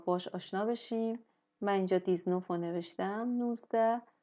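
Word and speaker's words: dix-neuf: میشه مثلاً دی نف ولی اینجا یه استثنائه توی شمردن اعداد اینجا با اینکه این حرف وایل نیست ولی این صدای ز می‌گیره حالا مدل دیگشو پایین‌تر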